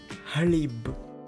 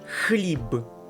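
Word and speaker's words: хліб: word which means brad not halibu it's khalib okay pay close attention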